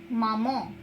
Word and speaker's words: maman: In French we pronounce mama as maman.